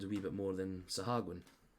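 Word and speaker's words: sahuagin: the night walker and the sahagin and yes I've actually watched somebody online pronounce that and that's apparently the way you've got to pronounce it rather than my stupid Saha Green Oh but that was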